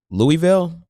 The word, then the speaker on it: Louisville: I see uh was it Louisville? Is that how you pronounce it? Louisville, yeah.